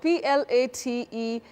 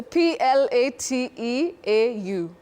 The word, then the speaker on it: plateau: C no it's a p l a t e a u oh bety many people innocently say plate but we don't say plate the correct pronunciation of that word is Plateau no way Plateau uh-huh